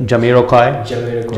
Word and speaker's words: Jamiroquai: Yeah, I think by Jamiroquai. Right. That's how you pronounce it.